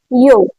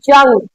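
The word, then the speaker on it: Jung: Aspiration given by Karl यंग। आई am talking like I am telling about name यंग नॉट जंग। सब लोग इसको जंग जंग करने लगते हैं। नहीं ये यंग है। जे इज़ अ साइलेंट बॉडी।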